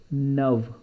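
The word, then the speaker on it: neuve: So it will be neu and f will be changed to ve, and we will pronounce it nuv, nuv, nuff and nuv. Nuff is masculine and nuv is feminine.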